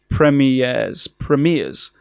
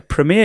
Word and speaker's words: premiere: 18 exclusives, and 15 premieres. 15 premiere. Premiere is the American way. 15 premieres. Premiere. 15... How do you say it in Britain? Premiere. Like Premier Inn.